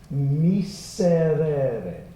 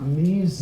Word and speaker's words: miserere: Miserere, not mise, it's not a Z sound, I want an S. Miserere, say it. Miserere. And if you can't roll that or flip that R, sing miserere, like D as in delightful.